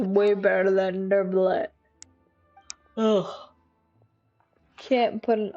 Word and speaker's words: Neuvillette: than Neuvillette.